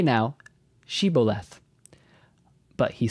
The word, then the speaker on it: Shibboleth: If he said no, then they would say to him, "Say now, Shibboleth." But he said, Siboleth, or Theboleth, for he could not pronounce it correctly.